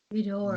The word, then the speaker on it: Ghidorah: You're pretty much saying Ghidorah, but without the intonations of like the ups and downs. Ghidorah. So like yeah, exactly. You just say it like monotone. That's the best way to explain Japanese, I guess.